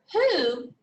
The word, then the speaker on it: who: sound also you come up here to who you don't hear w you only hear the h sound all right but when